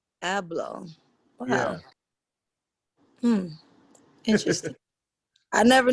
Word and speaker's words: Abloh: How do you pronounce your last name, Virgil? Abloh. Abloh.